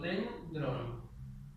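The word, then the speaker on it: δένδρον: Yo lo divido en sílabas y digo dendron, ¿sí? Palabra paroxítona. Acento agudo en la anteúltima o en la penúltima sílaba.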